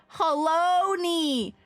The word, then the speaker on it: Halone: Halonies like baloney. Not hello like baloneyies. Oh my god, the pronunciation of these names. I was like, "Oh, it's alone." No, haloney. Like bologoney.